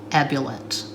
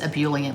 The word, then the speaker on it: ebullient: was ambulant the correct pronunciation is ebullient but that sounds stupid to me so i say ebola and i've got this